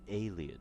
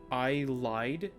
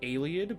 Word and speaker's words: Ayleid: I think I always pronounce it as I lied, like Ayleid, but I lied instead. So so I would mistake the I and the E. So it would be, in my head, it would be A-Y-L-I-E-D. And I'm like, that's not how you pronounce it.